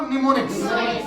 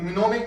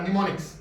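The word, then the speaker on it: mnemonics: निमोनिक्स। क्या बोलते हैं? क्या बोलते हैं? निमोनिक। इसमें एन साइलेंट है, ठीक है, इसमें मिनोमिक नहीं पढ़ा, निमोनिक्स।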